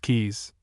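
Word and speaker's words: Caius: This college is commonly known as Kais pronounced keys and officially as Gonville and Kais after the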